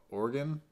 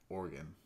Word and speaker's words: Oregon: And then in the great state of Oregon. Yeah, Oregon. Such a weird state to say, Oregon. I think it's like Oregon, not Oregon.